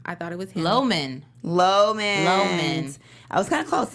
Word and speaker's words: Loman: Is it, how do you pronounce his name? Is it Lamont?